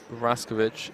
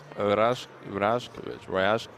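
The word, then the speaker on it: Rajković: James said it's not Raskovic, it's Rajkovic. I have no idea, mate. You have to pronounce the J as a Y, like in yes.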